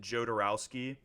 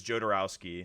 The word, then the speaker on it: Jodorowsky: it's called jodorowsky's Dune j d o r o wsk y I think is how you pronounce it jarowski um it's a document